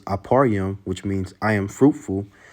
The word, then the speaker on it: Ephraim: Then you have the northern kingdom with the head being Ephraim. And how to say it in the Hebrew, it's Aparyam, which means I am fruitful.